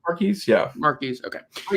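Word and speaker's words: Marques: how to say his first name mares yeah mares okay it's called oh my gosh yeah he's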